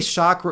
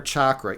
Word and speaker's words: chakra: And you could say chakra or chakra. Each one is perfectly acceptable. Um and sometimes you know different parts of the world they say it they say it differently.